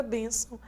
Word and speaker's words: bênção: Vê bem, aqui eu disse, ó, benção. Como é que eu tenho certeza de que esse ão é um ditongo? Porque a tônica da palavra bênção foi a sílaba anterior à bênção.